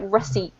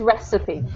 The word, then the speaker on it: recipe: very funny word I know it looks like reip but it's pronounced recipe okay recie thank you um so what what